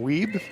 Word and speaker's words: Wiebe: have pointed out that I have been mispronouncing Ryan's name so it's Ryan weeb so apologies to the